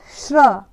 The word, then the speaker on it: श्र: वर्ण लिया हुआ है श्र इसको क्या बोलते हैं श्र श्र श बोलते हैं और साथ में र का भी उच्चारण होता है थोड़ा सा श्र क्या बोलते हैं